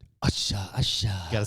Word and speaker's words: Usher: we also haven't said Usher properly since we've come in the door there's only two ways there's only one way to say usher and you have to say it like Asha Asha you got to